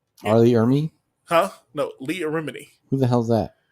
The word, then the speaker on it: Leah Remini: leo romini leah remedy how are you pronouncing that lia remnant god damn it man it sounds like you're saying a remedy that's her name leah remini it's leah leah remini